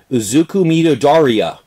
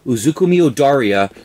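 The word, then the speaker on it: Izuku Midoriya: So I'm going to pronounce his name properly.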